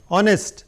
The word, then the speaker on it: honest: Then जिसमें silent हो, h, r, एक मैंने लिख दिया यहाँ पर, honest, I, higher, उनके आगे n लगेगा।